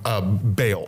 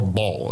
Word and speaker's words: Baal: But the thing with the tree was that was because of a god named Baal or Baal. It depends on how you want to pronounce it.